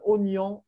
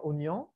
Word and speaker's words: oignon: Est-ce que la prononciation change ici? Non, Non. Donc, pourquoi il y a un i?